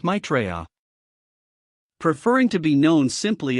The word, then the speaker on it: Maitreya: the final destination is the New Age where Maitreya, the world teacher, arrives, is the nexus point where all of the Jesuit scientism meets its fruition.